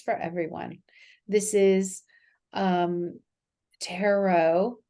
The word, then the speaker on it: tarot: hello to you out there it is Tien tarot according to the Cambridge English dictionary which I'm